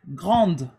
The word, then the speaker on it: grande: Par exemple, grande. So, when you add an E after a consonant, you also pronounce the consonant, right?